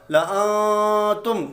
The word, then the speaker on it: لَأَنْتُمْ: اخفا کا غنہ ہوگا، لَأَنْتُمْ، تو یہ زائد الف نہیں پڑھا جائے گا۔ آگے ہے پارہ نمبر